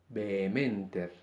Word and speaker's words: vehementer: En el resto de los casos es muda. Vehementer, homo.